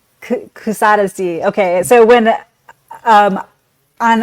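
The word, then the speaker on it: Kuşadası: So I I call this city Kusadasi which I've probably completely pronounced incorrectly Kusadesi.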